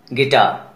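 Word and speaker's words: guitar: कुछ और वर्ड्स को देखिए, गार्ड, गिल्टी, गिटार. जब भी जी के बाद यू रहेगा, यू साइलेंट रहेगा.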